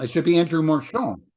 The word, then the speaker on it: Marchand: I think most people know Marchand. Marchand. It should be Andrew Marchand.